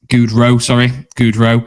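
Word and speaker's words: Gaudreau: to pronounce it right, Goudreau, I think it is. Goudreau. It's a French spelling, apologies for that.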